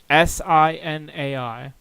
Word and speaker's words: Sinai: How do I pronounce this? It's Sinai.